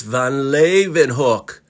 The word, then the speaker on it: Van Leeuwenhoek: Oh yeah, and bonus, can you pronounce that name? Because I don't think I can. For the last time, it's Van Leeuwenhoek.